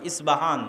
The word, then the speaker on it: ইস্পাহান: আমরা প উচ্চারণ করি ইস্পাহান আরবিতে এটা উচ্চারণ হয় না আরবিতে হয় আল আসবাহানি বা উচ্চারণ হয় ইসবাহান বাসবাহানি সেখান থেকে 70